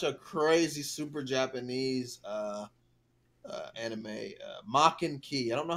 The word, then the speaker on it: Maken-Ki: want to watch a crazy super Japanese anime maken-ki I don't know how to spell that but that's how you